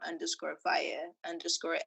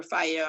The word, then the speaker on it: Fyiah: You can type in or Fyiah on Tidal or Apple. That is FYIAH, not spelled how you're phonetically familiar with.